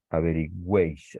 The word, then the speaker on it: averigüéis: Averigüéis. Aquí tenemos esta U, E, I. Se cumple la norma, una cerrada, cerrada, la de dentro es abierta y además recibe la fuerza de la pronunciación, averigüéis.